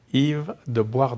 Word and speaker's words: Yves de Boisredon: though I know you eat please will you pronounce your last name for us Yves Dubois don't you see see that's why I messed